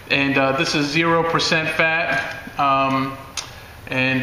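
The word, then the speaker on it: Fage: this brand of yogurt f-a-g-e pronounced fa yeah i saw that online that's the only reason i know that and i was just like phage what the heck's phage it's fayette and this is zero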